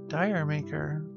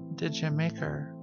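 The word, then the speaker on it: D'yer Mak'er: to finish including the crunch so the song tiger maker as its owner often pronounced it's actually pronounced did you make her I said did you like have sex with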